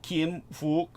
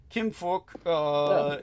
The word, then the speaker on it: Kim Phuc: Kim Phuc. And of course, every American's going to pronounce that as fuck, which it sounds pretty much like, I have to say.